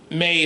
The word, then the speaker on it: Mei: I think May is how you pronounce it.